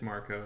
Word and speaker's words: Marco: Is it Marco Rubio or Mark Rubio? It's Marco. It's spelled with a C though.